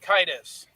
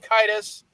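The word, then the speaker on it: Caedus: uh roman version of the name it's darth kaitus but it's supposed to be a play on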